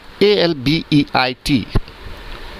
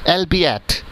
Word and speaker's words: albeit: Next word is ALBEIT. कैसे pronunciate करते हैं इसे? Albeit? नो, the correct pronunciation is Albiat.